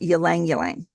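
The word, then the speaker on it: ylang-ylang: rose, jasmine is lovely, yang yang. That's that funny word. It's y l a n g. Y l a n g is pronounced yang yang.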